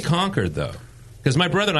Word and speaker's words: Concord: How do you say Concord, though? Because my brother and I were actually talking about this. Concord. Is it Concord. Concord or is it Concord? It's Concord. Concord. It's not Concord.